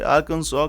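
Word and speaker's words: Arkansas: इस नियम के हिसाब से आर्कांसो का आखिरी एस साइलेंट रहता है और इसे 1881 में इसे स्टेट लेजिस्लेचर एक्ट के माध्यम से ऑफिशियल बना दिया गया।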